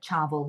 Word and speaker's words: chawal: So it's dal is lentils and chawal, it's spelled Chawal, but it's pronounced like chavel, like with a V.